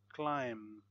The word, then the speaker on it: climb: logically so a silent silent B when there is M before the B so we don't say p climb crumb lamb thumb Dum